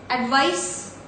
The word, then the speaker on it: advice: This is S, advice, alright, and this is Z, that is Z.